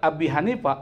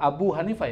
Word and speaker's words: Abu Hanifah: Ini bukan Abi Hanifah, Abu Hanifah ya. Karena dia posisinya sebagai ma'atuf ya. Dari mana? Dari Malik. Dan Malik ini adalah mubtada kan gitu. Maka dibacanya bukan Abi, Abu.